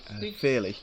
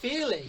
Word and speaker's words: Feehally: Is that pronounced right? Feehally. Feehally.